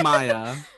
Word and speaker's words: Maja: Because her name's Maya, but it's It's spelled like spelled M-A-J.